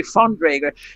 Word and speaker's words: von Dreger: Yes, and it's actually von Dreger. In the German language, the consonant V is pronounced like F. So we say like Volkswagen.